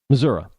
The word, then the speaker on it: Missouri: uh in in Missouri how I understand they pronounce Missouri it's not Missouri there's no a at the end it's an I but Missoura I hope I pronounce